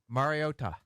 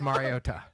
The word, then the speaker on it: Mariota: He emphasized the first syllable, scolded us over the first syllable usage, never the last Mario.